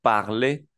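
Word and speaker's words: parler: es un verbo hablar la r no suena al final pero hace que esa e se pronuncie e porque sabemos que la e sola suena e pero como está al final en un verbo en una e r al final esta r no se pronuncia pero la r hace que la e suene suene como e en español entonces decimos V puve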